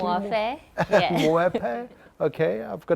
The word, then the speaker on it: Muofhe: And I think it's most apt in our first one of this series is that we have Moefe, am I pronouncing it correctly? Moefe, yeah.